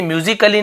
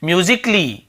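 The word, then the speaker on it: musically: पड़ेगी आप इसे पढेंगे म्यूजिक ली तो देखिए एक उच्चारण यहां पर नहीं हो रहा है ए सैंट है म्यूजिक ली यहां पर उच्चारण नहीं होगा म्यूजिकली गलत है म्यूजिक ली सही है यह चीज अभियान लेंगे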